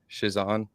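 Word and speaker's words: Chiasson: How do you say her last name? Shizan.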